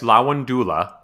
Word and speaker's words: Lavandula: Lavandula, but you would actually want to say Lawandula? Yes, Lawandula.